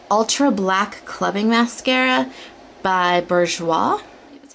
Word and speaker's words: Bourjois: This is the Ultra Black Clubbing Mascara by Bourjois.